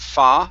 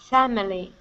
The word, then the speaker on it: family: one here is family instead of fah farm family it's an a sound here fa family family family good one more time